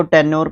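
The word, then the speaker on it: tenor: बार मैंने देखा है सुना है दोनों को टेनोर प्रोनाउंस करते हैं दोनों नाउन वर्ड्स होते हैं टी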